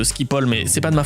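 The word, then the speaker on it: Schiphol: Et c'est comme ça que Chilope a été arrêté à l'aéroport de Chipo aux Pays-Bas. Ça s'invente pas. Non, en vrai ça se prononce Skipol mais c'est pas de ma faute.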